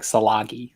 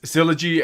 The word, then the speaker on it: Silagi: kyle's last name because forever i just in my head it was like solagi so i appreciate it it sounds better so yes sylogy i i had to learn it's a it's a soft g i had to ask